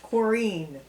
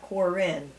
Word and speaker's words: Corrine: honey and Susan Susan my name is Corrine not Corinne like all right excuse me she likes it pronounced chlorine there okay okay so you